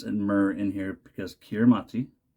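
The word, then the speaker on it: Kiritimati: myrrh in here because kiramati is Christmas the ti makes an S sound wow the more you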